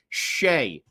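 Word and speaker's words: Skjei: Skeji. How do you pronounce that? Shea.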